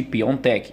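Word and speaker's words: Piątek: que não tenha mais porque se pronuncia realmente piontek está aqui algumas províncias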